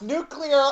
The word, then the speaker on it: nuclear: just creating a violent rainbow nuclear blast it's pronounced nuclear oh my gosh nuclear sorry pet peeve okay